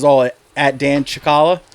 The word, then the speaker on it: Cicala: It's all at Dan ChickHolla. ChickHolla. ChickHolla, that's how it's spelled.